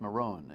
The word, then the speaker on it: Morone: Jim is my guest Maron is uh my guest the E is silent just like with me the E is silent but never forget the E because it drives us